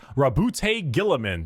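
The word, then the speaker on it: Roboute Guilliman: Rabbout Gillamin.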